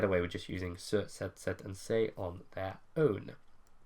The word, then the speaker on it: cet: Starts with an H, which of course is silent, and therefore to make it flow, we use set with 1 T.